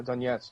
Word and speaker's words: Donetsk: So now, as I understand it, Daniel, the eastern provinces, Lugansk and Donetsk, how do you pronounce? Yeah, Donetsk.